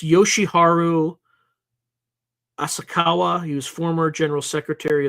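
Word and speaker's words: Yoshiharu Asakawa: going to want to make sure that I pronounce this name properly it's so it's Yoshi Haru asakawa he was former General Secretary of the UAP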